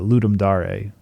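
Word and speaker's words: Ludum Dare: of it and a friend suggested that the ludum DAR um it's pronoun or it's pronounced ludum Dar but it looks like L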